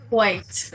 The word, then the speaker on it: white: White. Pronounce the WH just like that.